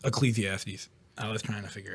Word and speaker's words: Ecclesiastes: that was pretty much Ecclesiastes that's how it's pronounced Ecclesiastes I was trying to